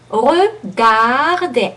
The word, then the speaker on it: regarder: So, regarder, A again is very French, and E, a long E is again very French. We don't have too much E open E is a long E in American.